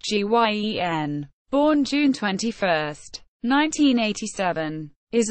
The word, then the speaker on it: Guion: Letroy Shelton Guion Jr., pronounced Guien, born June 21, 1987, is an American football defensive tackle who is currently a free agent.